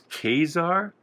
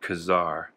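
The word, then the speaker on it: Ka-Zar: somebody pronounced it as kazaar but i've always always pronounced it kazaar i put the emphasis on the second syllable how do you how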